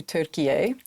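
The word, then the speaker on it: Türkiye: not know the country Turkey recently changed the pronunciation of the name to Turkey a and over the last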